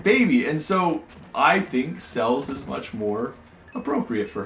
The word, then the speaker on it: Celes: I know that you guys want to call it Celeste, and it probably. Because that's how It's it's spelled? it's spelled, and that's how you say it. No. We no. even looked up the Japanese for it, remember? I do remember this, but she will always be Cells Why?